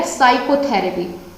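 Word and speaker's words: psychotherapy: इसका उच्चारण किया तो मैंने क्या बोला जब मैंने इसका प्रोनाउंसिएशन किया, साइकोथेरेपी। पी साइकोथेरेपी तो नहीं बोला, या फाइकोथेरेपी तो नहीं बोला, तो मैंने क्या किया, यहाँ पर पी छोड़ दिया, ठीक है।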